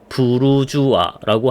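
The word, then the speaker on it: bourgeois: 그래서 원래 어 성을 이제 부르그라고 했는데 그래서 성 안에 사는 사람들이란 의미로 브루주아라고 하는 겁니다. 브루조이스라고 하거든요. 그래서 그걸 브루주아라고 프랑스로 발음을 하는 거고 그래서 도시민 우리가 도시민이라고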